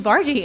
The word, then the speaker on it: Bargie: And he goes, "It's actually Bargie." And I said, "Bargie, I'm sorry." I thought it was Bara.